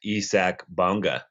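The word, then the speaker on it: Isaac Bonga: First off, I had no idea until about 20 seconds ago that it's pronounced Isak Bonga.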